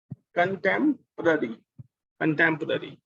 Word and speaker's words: contemporary: Right, ओ की sound भी और ए की साउंड भी अ। कंटेम्पररी, कंटेम्पररी, okay.